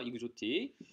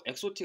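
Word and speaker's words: exotic: 이거 이그조틱, 이국적인이라는 단어고 외워두세요. 아시겠죠? 이그조틱. 이거 엑소틱 아니에요. 아시겠죠? 이그조틱이에요. 여러분들.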